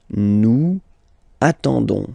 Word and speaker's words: nous attendons: You don't pronounce the S, so you get only this on sound, okay? Attendons, nous attendons, so we'll make the link between the two, la liaison.